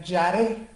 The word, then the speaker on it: yaré: La palabra temor viene de la palabra hebrea yaré. Se escribe Y, A de Alfonso, R de Ramón, E de Ernesto, que significa temer o reverenciar.